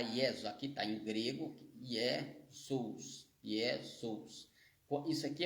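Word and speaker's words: Ἰησοῦς: é um conto consonantal No grego tem um conto consonantal entre o omcron e o upsilon e muitas vezes ele vai ser vai ser eh pronunciado com com o som de u e aqui é um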